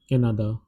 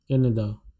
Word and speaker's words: Canada: España, Japan is Japon, Canada is written in the same way and the pronunciation is different. Canada, Canada, that is the pronunciation.